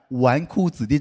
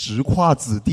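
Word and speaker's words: 纨绔子弟: It took me three years to finally understand the meaning of the word "wánkù zǐdì" (playboy). It's not pronounced "zhíkuà zǐdì," you know?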